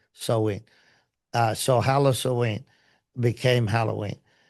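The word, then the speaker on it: Samhain: They they worship the dread lord Lord of Death Sam Hayne, which is why the the uh festival is called or worship Sam Hayne Halloween.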